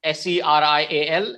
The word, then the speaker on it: cereal: okay so yes these are the two words s-e-r-i-a-l and c-e-r-e-a-l okay these are two words serial